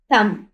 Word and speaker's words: thumb: इसी तरह यहाँ पर देखें THUMB, थम। अब थम में बी हमारे पास साइलेंट है, क्योंकि ये थम पढ़ा जाता है, थंब नहीं पढ़ा जाता।